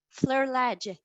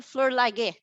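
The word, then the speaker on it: Flerlage: master and the brothers fleur ledge today i heard the name for the first time you know with my ear i was pronouncing ken fleur lager it was not that so now i know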